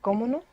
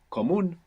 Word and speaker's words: común: Is it comuno? Comono. Común. Ah, So there's no way to know that. comuno or común? Común. Común. Común with the accent on the end.